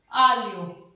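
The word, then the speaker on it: aglio: ठीक है, फिर थर्ड में आ जी एल ई ओ, जी एल के बाद में फिर ई आ गया आलियो।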